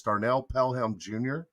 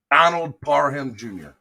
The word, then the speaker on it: Donald Parham Jr.: I think it's Darnell Pelham Jr. I think is his name. I want to make sure I say his name right. Chargers. Donald Parham Jr.